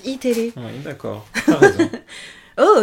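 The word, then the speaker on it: Eテレ: En fait, ça s'écrit E-TV et ça se prononce iTélé.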